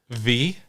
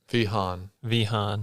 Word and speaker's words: Vehaun: Yeah, so it depends on which country you're in. Where does it come from? I have no idea. It's Vehaun. Vehaun.